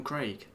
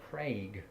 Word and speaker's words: Craig: Okay, so the Bond actor, Daniel Craig. I still haven't seen any of those films. I don't know why shame on me. we're saying But I Daniel pronounce Craig. his name Daniel Craig.